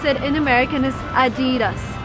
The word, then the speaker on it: Adidas: and it's called adidas you probably called it I dig us or something else but the correct way to pronounce that in American is adidas adidas twenty dollars and a pair of Adidas